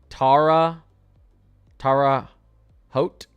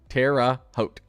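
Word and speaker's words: Terre Haute: Tara Hote? Tara Hote? I feel like that's wrong too. Terra Hote? Terra Hote. Terra Hote.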